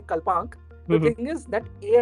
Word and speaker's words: Kalpanik: Right, and it's Kalpnk, if I'm right. How do you say it? It is Kalpnik.